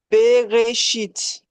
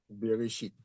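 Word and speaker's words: בראשית: Beréchite. Beréchite.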